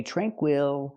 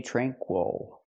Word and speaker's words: tranquil: this word tranquil tranquil again the stress is on the first syllable so we don't say tranquil we say tranquil let's talk about the a sound we don't say TR tranquil we don't use the a sound like black cat we use the long